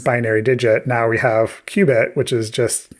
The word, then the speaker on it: qubit: Q U B I T not like Q dash B I T. It's not like Q-tips, it's a qubit.